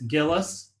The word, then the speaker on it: Gillis: you're muted you're muted it's gillis gillis okay awesome and then